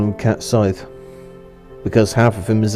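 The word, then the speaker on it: Cait Sith: To say it right would be Kate Sith, because his name is Caitshith. We all know about the Sith, don't we? But I prefer to call him Cat Scythe, because half of him is a cat, so.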